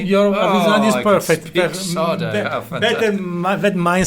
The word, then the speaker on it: Arvisionadu: Did I pronounce that right? Arvisionadu. Perfect. Really? Your Arvisionadu is perfect.